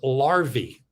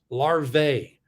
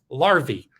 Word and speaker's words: larvae: more than one larva are you ready it's larvae some people say larvae but the proper pronunciation is larvae and it's the same with you have a